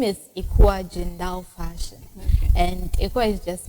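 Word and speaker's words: Ecua Gendal: of course me i don't know how to pronounce it okay so um the name is ekwa jindal fashion and it was just my name i'm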